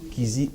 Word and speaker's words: Kyzi: Et en vidéo, allez sur ma chaîne YouTube, Kizzy officiel. Donc, ça s'écrit J-O-E. Kizzy, c'est K-Y-Z-I, officiel.